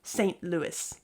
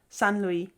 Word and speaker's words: Saint Louis: re-making names even well here's one that Vlad jokes about San Luis he can't bring himself to say Saint Louis San Luis and I'm American and I know the city as Saint Louis and I keep telling him it's Saint Louis and nobody will know what you're talking about unless you say St Louis now of course I